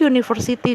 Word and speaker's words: university: about Nana University untuk university di sini Kenapa memakai tidak memakai ton karena cara baca University diawali dengan konsonan Ye bukan dengan huruf vokal